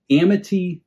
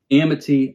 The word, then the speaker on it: Amite: and Trust Company in Amity, Louisiana, back in July of 1926. Amity, A-M-I-T-E. Maybe it's pronounced Amite, but surely it's Amity, which means surely it's Amite.